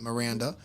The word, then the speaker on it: Miranda: It's in memory of Miriam Miranda, Spanish. That's how you say it, Miranda.